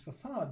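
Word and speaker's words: façade: In this facade design pattern, it's pronounced facade.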